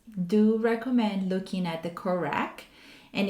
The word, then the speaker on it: COREQ: Many journals do recommend looking at the CORAC. And if you don't know what the CORAC means, it's spelled COREQ, and it stands for Consolidated Criteria for Publishing Qualitative Research.